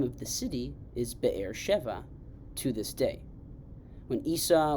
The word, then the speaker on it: Be'er Sheva: Isaac settles himself in a new area called Be'er Sheva. We'll talk about, or Be'er Sheba, you might be familiar with the pronunciation.